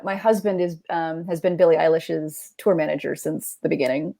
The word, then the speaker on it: Eilish: It is Eilish. Okay. Like eyelash, but Eilish. So drop us a Billie anecdote. Just one. So for context, for those who don't, my husband has been Billie Eilish's tour manager since the beginning.